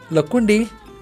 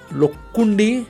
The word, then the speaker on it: Lakkundi: Lakkundi, also referred to as Lakkundi or Lakkundi, Lo or La, Lakkundi or Lakkundi. Both are correct as far as pronunciations are concerned, and it was a